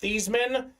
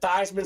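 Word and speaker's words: Theismann: his name was pronounced these men at Notre Dame that said look Joe you should pronounce it Theisman so we can promote you Theisman for the Heisman uh so and then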